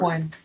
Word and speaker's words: Einkorn: How do you pronounce that? Einkorn flour? Einkorn.